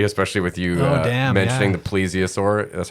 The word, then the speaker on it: plesiosaur: on crypto zoology especially with you mentioning the plesiosaur that's how you say it plesiosaur plaur okay because everyone knows Lochness Monster Nessie